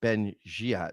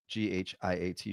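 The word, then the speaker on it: Ben-Ghiat: I think Ben Giat is how you say it. Ghiat.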